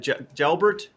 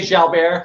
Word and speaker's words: Jalbert: Is it Gelbert? It's fine. I take all pronunciations. I say Jalbert, it's French Canadian, but I take Jalbert.